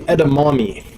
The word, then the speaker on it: edamame: to spell but hashtag e-d-a-m-a-m-e edamame and um yeah steven will know why people that watch his videos will know why mainly because it kind of rhymes with gourami so steven thanks again